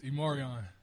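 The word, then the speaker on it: E'Marion: It's Immoran.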